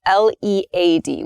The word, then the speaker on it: lead: lead so let's start with lead and lead l-e-a-d we can read them um so we can